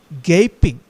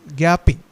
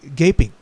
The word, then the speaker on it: gaping: In almost every house we have watched them gaping. I mispronounced the word in the previous class as gaping. Actually, the real pronunciation is gaping.